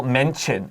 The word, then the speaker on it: mention: Now look at how we spell mention, M-E-N-T-I-O-N. 这个 T-I-O-N usually is should, but listen to Anthony, listen to me. Mention. It T 发 C-H.